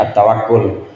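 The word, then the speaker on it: التوكل: allahai berik dan tawakal Kita sebutnya tawakal tapi kalau bahasa Arab bacanya atawakul dan tawakal kepada Allah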